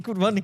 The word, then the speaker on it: Qurban: How do you say it? Qurbani? Qurbani. They said, no, it's Qurban. Qurban is the same thing. It's just, it's about the grammar.